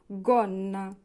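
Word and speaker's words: gonna: এর পরে যদি ও থাকে তাহলে হবে গ উচ্চারণ হবে গন্না গন্না মানে স্কার্ট জি এর পরে উ আছে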